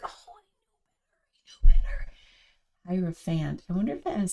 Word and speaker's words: Hierophant: And I was like, I want to go online and see like how do they pronounce it. So it's Hierophant.